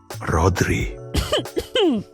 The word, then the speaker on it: Rodri: This name is pronounced Rodri.